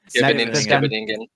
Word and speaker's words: Scheveningen: Like, I have no idea how to pronounce it, but Shavinger or something like that. Scheveningen.